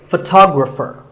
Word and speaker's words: photographer: In the same way, photographer. Word number 44 is jewelry. It's spelled differently in American and British English, but it's pronounced the same.